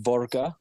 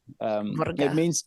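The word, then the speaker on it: våga: Vaga, it's a Scandinavian, but it's a Swedish term, and pronounced Vorga. Vorga.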